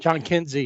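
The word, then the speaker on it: Jhonkensy: when is it John how do you say his first name? Oh um Kinsey John Kinsey. Yeah John Kinsey Noel they call him big Christmas.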